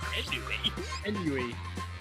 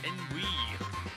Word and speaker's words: ennui: What do you pronounce it? Inui. It's Ennui. Ennui.